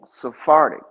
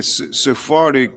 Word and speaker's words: Sephardic: I heard is like saying sphartic. Yeah. Sephardic.